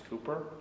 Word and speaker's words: Cowper: This is where William Cowper, sometimes mispronounced Cowper, lives. Cooper actually tells us how to pronounce his name, and it's Cooper, not Cowper.